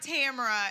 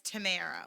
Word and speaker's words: Tamara: Sor that my faor it's not Tamara it's Tamara like Panera Bread uh from Alexandria I